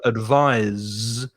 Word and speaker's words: advise: just from the teeth but the verb advise there's vibration here in the throat in the vocal cords vocal chords so if